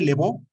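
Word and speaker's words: de Vaux: De hecho, había un padre dominico, padre Lebó, que se escribe Baux con V, Baux, el padre Lebó, un gran arqueólogo.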